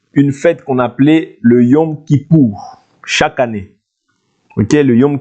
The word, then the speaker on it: Yom Kippour: Il y avait chaque année, comme je vous ai dit dernièrement, une fête qu'on appelait le Yom Kippour.